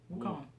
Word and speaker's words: Wukong: you pronounce this Sun Wukong Wukong I'm pretty sure that's a v no it's woo Wukong I guess it is